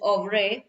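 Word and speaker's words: oeuvre: also of ray over actually pronunciation is of re is the body of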